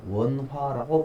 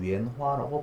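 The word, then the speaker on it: 芫花: 원화라고 발음을 하고 중국말로는 위엔화라고 발음을 합니다.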